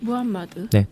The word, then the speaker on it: 무함마드: 중요한 인물이 있는데 누굴까요 무하 무하마 마드 이게 정확한 발음이에요 무함마드네 뚜둥 모하메 트는 뭐가 달라요 그게 다른 발음이 같은 건데 다른 발음네 원래 무함마드는 사람인데 이제이